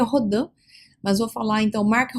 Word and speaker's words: Rodin: que o matemático, né, Mark Rodim ou Rodan, como queira pronunciar, o certo seria Rodã, mas vou falar então marca rodinho, só para você entender como é que se escreve, tá?